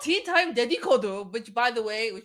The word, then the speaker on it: dedikodu: I will ask you to repeat the word but slower so I don't mispronounce. Like my terrible habit of just. It's called, okay, Dedikodu.